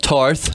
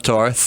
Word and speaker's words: Tarth: She's hanging out with Brienne of Tarth. Yeah. I know it's Tarth, not Tar.